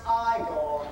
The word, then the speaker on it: Igor: No, actually it's pronounced Iiggore. But they told me it was Eigor.